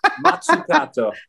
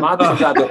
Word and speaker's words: Mazzucato: Mazzucato. Oh, wait. Yours was better. You won. Mazzucato.